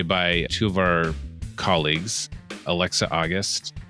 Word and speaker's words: Alexa August: So we're really happy to be joined today by two of our colleagues, Alexa August. Am I saying it right? Yes.